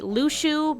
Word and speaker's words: Luxu: Everyone called him Luxu, and it's actually Lushu because, you know, X's and crap and all that jazz, and no one knew how to pronounce it until back cover, so ha ha ha ha. It's Luxu. I don't care what anyone says. Lushu just, no. It's an X sound.